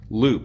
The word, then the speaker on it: Loope: you're looking at Bleu Loope. Is it Loope? Yes, sir. Okay. And the first name is spelled B-L-E-U. Yeah, like blue cheese. Last name is L-O-O-P-E. Is that right?